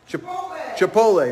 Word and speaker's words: Chipotle: I can never pronounce it right. What is it, honey? Chipotle, Annabelle says.